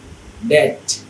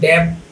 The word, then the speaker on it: debt: তারপরে ঋণ, এই যে ঋণ, আমরা ঋণ করি না, ধার নেই মানুষের কাছে, এটাকে বলে ডেট। এটা কিন্তু ডেব না, ডেট মানে হচ্ছে ঋণ নেয়া।